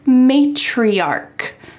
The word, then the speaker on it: matriarch: the opposite word is matriarch. Matriarch. Notice that the end of this word sounds like a K.